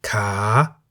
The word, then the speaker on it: ขา: A live syllable beginning with a high-class consonant is in the rising tone. For example, ka, meaning leg, and kan, meaning bowl.